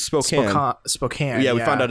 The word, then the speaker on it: Spokane: It's Spokane. Spokane. Yeah, we found out it's pronounced Spokane, even though there's an E at the end.